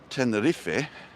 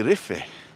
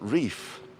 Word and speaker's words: Tenerife: we call it locally how many of you call tenerife the reef without realizing that you pronounce the e well just the same as in crostini pronounces the e tenderiffe pronounces the e2 so it would be riffey not reef so your cute little